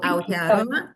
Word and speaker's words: Aotearoa: So Aotearoa, I hope I'm pronouncing it well.